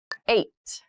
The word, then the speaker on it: eight: days in every week eight eight eight so the next number is the number eight this has an interesting spelling it's pronounced eight eight is a lucky